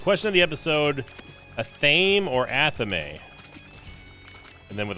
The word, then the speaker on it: athame: The correct pronunciation of the word is Athame.